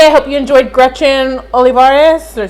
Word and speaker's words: Olivares: Because I said Olivares, and they were used to hearing, because we were in Albuquerque at the time, Olivares.